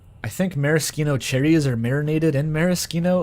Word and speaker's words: maraschino: But as far as I know, it is just maraschino is the authentic pronunciation.